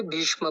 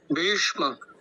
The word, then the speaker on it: भीष्म: हम आते भीष्म पर तो आप देख रहे होंगे जो बकार है उसमें दीर्घ इकार है और उसके पश्चात जो श है वो मूर्धन्य सकार वाला है और म का उच्चारण भी पूरा करना है तो कुछ इस प्रकार होगा भीष्म भीष्म भीष्म ठीक है